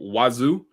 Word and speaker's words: Wazuh: It's called Wazoo. It's like I heard a free and open source SIM type of solution. It also has XDR in it. So I would say, hey, look that up. It's spelled WAZUH, but it does have